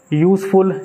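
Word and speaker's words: useful: यूजफुल, ये भी यू से आवाज़ आ रही है, उसका प्रोनाउंसिएशन जो है यू करके हो रहा है, तब उसके आगे भी आ यूज़ होगा, ना कि एन।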